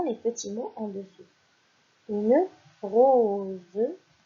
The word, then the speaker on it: rose: Une rose, une rose. Vous voyez, ici nous avons la lettre O et la lettre E qui sont des voyelles. Et ici, par conséquent, le S se prononce Z.